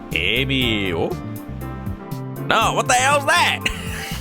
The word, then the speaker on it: Emio: I do like how they say it, like, Emio.